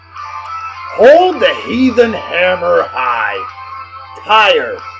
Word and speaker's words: Tyr: Tire. Or is it tier? I think it's tier. Metalheads, I know I'm pronouncing it wrong. I can't remember how it... TYR, I've heard it pronounced tier and tire. I think it's tier, though.